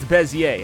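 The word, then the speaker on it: Bézier: Apparently, it's pronounced Bezier. I I looked it up and Okay. Bezier curve.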